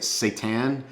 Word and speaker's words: seitan: The king of them all by far is, I don't even know how you say it, seitan. Why does it have to sound like the word Satan?